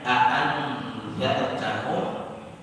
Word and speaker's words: أأنذرتهم: Di sini musannif menyebutkan kalimat a'andartahum bitahqiqil hamzataini, dengan menampakkan dengan jelas dua huruf hamzah yang ada pada kalimat a'andartahum. Itu qiraat Hafs, hamzahnya dinampakkan, jadi membacanya a'andartahum, dan itu yang biasa kita baca selama ini.